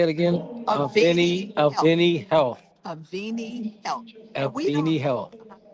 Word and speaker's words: Avini: Avini Health.